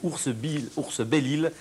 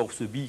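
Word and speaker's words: Oursbelille: Exactement, je tiens à signaler que c'est Ours Belle-Île, et non pas Ours Bille, comme je l'ai dit dans la foule du reportage.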